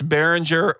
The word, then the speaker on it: Behringer: a audio interface the audio interface was by baringer or baringer or how do you say is it baringer it's the one you're talking you know what I'm talking about it's Behringer 404 had four audio inputs for four different